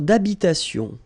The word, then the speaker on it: d'habitation: Une tour d'habitation. Remember, H doesn't exist in French, well, in most of the cases. So it does mean that you don't pronounce it.